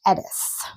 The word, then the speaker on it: Eadha: And this is actually the white popppler and it's spelled e d a d h but it's pronounced edith.